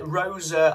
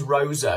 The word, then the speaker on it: Rosa: Well, we've got Rosa Island, or Rose Island as it is on Netflix. But I think it is Rosa, because that's how the Italian second name would be pronounced.